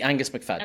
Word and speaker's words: Angus McFadden: How do you actually pronounce that? It'd be Angus McFadden.